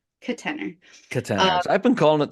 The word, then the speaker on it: Katenor: new to this so it's my name Kate and the word tenor and then that's just but I'm sort of pronouncing it with a schah in the first syllable kener ker I've been calling